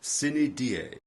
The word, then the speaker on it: sine die: Exceptions are a few foreign phrases like the legal term sine die, the Latin for without a day, meaning without a day appointed for resuming a postponed trial or other matter. Another is sine qua non, which means something essential, literally, without which not. It sounds strange if you don't know Latin.